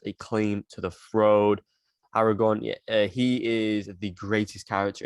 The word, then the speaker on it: Aragorn: film you know um aragon that's how you pronounce his name who has a claim to the throat aragorn he is the greatest character in this film